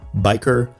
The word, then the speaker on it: bichir: the world you're from, you will hear a variety of pronunciations for its common name, from bichir to bichir or even bichir.